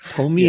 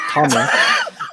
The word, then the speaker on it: Tomie: But Tomie. Is that how you say it? Tomie. Yeah. I didn't think it would be called Tommy. Not Tommy.